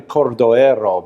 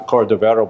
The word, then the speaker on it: Cordovero: teacher he was portuguese his name is actually cordially arrow but people pronounce a cordovero by mistake and he wrote among